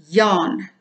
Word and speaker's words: jaarn: the South African dictionary yarn sounds the same as English but it's spelled differently it's spelled in in Afrikaans way j-a-a-r-n yarn and they actually included